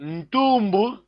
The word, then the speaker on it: ntumbu: But ntumbu, the nasal is there, leading N.